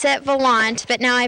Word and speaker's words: Volant: romance so there you have it the correct pronunciation of this little town is Volant reporting in Volant I'm Amanda Conway for the